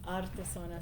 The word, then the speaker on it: Artizona: Yes, we were saying that Artesona, if you can roll your R's, Yes. it's Artesona. So arte from art and zona from zone.